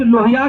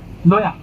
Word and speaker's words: लोया: किसी तड़ीपार की सुनवाई करने वाले जज लोहिया की हत्या हो जाती है और उसके बाद में वो केस का क्या हो जाता है? लोया लोया लोया, हमारे यहां मेरे शब्द में प्रोनाउंसिएशन में वो लोया की हत्या क्यों हो जाती है?